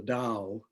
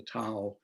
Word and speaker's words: Dao: as such but with the dao the tao depending on which chinese system you use for pronunciation is an understanding of